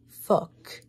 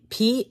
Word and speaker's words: phoque: It is not the F word. I'm telling you, it's just a French language. It is how you spell it. Phoque. Fuck. It's to say seal in French.